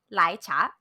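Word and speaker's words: 奶茶: So if you want it hot, you're just going to say lai cha. Lai cha. If you want it cold, you would say Mm-hmm. dong lai cha.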